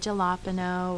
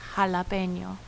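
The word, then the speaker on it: jalapeño: it in words like jalapeno i know some people think it's funny to say jalapeno or things like that but it's jalapeno the next letter is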